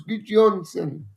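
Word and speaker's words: Gudjohnsen: It's Eider Gudjonsson's son, so it's Gudjonsson.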